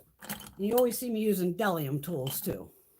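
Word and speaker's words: Bdellium: always see me using dellium tools too on camera these here the b is silent so it's called dellium but it's b d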